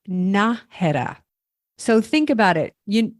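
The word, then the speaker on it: Nájera: starts with an N most people call it Nera oh yeah what is it it's pronounced naha so think about it you you know what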